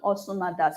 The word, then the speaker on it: Osumada: Okay, that is the pronunciation, Osumada soup.